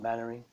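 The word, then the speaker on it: Mainwaring: It's spelled like that, but said Mannering.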